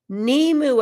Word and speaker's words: Nimue: Oh, pronounced Nimue.